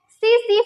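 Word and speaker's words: tsetse: वाहक है ये है सीसी फ्लाई, ठीक है। यह सीसी मक्खी के काटने से, ये TSE इसको टी से मत पढ़ेगा, ये टी यहाँ पे साइलेंट होता है, इसको सीसी फ्लाई या सीसी मक्खी कहा जाता है, ठीक।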